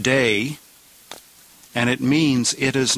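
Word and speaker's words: δεῖ: It's found in the third singular and it's pronounced day and it means it is necessary. An impersonal verb. It is necessary pronounced day.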